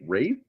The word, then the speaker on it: Ralph: I didn't know how to pronounce his name. Then I heard him say in an interview, like, "Oh, it's Rafe, really?"